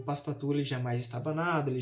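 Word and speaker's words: Passepartout: desse dessa obra que o nome dele, a pronúncia é um pouco difícil, mas se eu não me engano é Paspatu, né? Paspatu, que é um francês que é totalmente oposto do filas fog.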